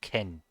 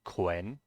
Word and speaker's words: 괜: Ah, here, this is, by the way, another example of people not pronouncing the O here. It's just ken. Ken. It's not quen.